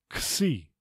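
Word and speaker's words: ξ: new it is NI this is a little bit of a strange letter it is actually pronounced C with a K in front of it k e e c Omicron Omicron is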